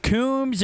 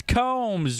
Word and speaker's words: Combs: It's not Coombs, it's Combs, which is really disappointing. We've had a lot of fun saying that name, but we will pronounce it correctly.